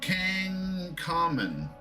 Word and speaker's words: Tutankhamun: Tutankhamun. How do you say that? You can just say King Tut. Tutankhamun? Toot, Ank, on, Mon. And then I think the Ankh is spelled in that way of Ankh.